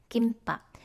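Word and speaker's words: 김밥: becomes sangdi get kite kimba you have this pube and uh it actually uh follows meme sound so it becomes tensified and kaiten means conflict and gimbap is the korean food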